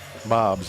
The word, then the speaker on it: Mobbs: How do you pronounce this guy? Is this Mobbs? Mobbs, yeah. Yeah. M-O-B-B-S. I didn't know if it was Moobs or Mobbs or what it was.